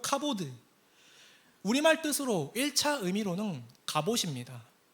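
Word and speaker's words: כבוד: 어디서 왔는지 아세요 로 카보드 우리말 뜻으로 1차 의미로는 갑옷입니다 그래서이 단어를 외울 때 되게 좋았어요 카보드 갑옷 히브리어에 종종 이런 단어가 있습니다 히브리어 단어와 한국어 발음이 유사한 단어 그 중에 하나요 갑옷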